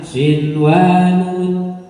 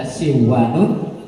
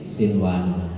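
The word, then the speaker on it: صنوان: Biasanya kalau ada nun sukun bertemu waw dibaca apa? Idgham bihunna. Tapi di sini dibaca idhar wajib atau idhar mutlaq. Ya. Kaidahnya apa? setiap ada nun sukun bertemu wawu atau ya dalam satu kalimat, catatan ya, maka dibaca idhar wajib, bukan dibaca siwanun, tapi dibaca inwanun atau sinwanun.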